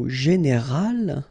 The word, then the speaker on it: général: Okay, but then phonetically it's quite interesting, because you don't make any difference. You will get so général at the masculine form, and it will be exactly the same thing at the feminine form, général.